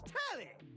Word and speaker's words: Telly: The name's Tally. Rhymes with Nelly. Like, whoa, Nelly. Did you know Telly offers 5,000 channels like an endless deli?